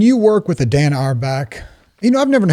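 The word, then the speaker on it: Auerbach: to pronounce his name is it Dan arback he says our back our back y that's easy for a southern boy I can just break it into two hour back yeah so when you're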